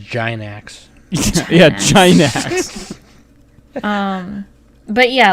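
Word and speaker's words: Gainax: combo trigger came from gynax nick you're saying it wrong it's a giant axe yeah china um but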